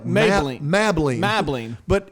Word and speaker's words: Mablean: really spelled like maybelline mabling mabling but it's pronounced maybelline they throw that extra syllable in there and she's a different